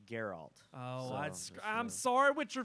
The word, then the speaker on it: Geralt: I want to see in the game it's pronounced Geralt oh I'm sorry with your fans I'm sorry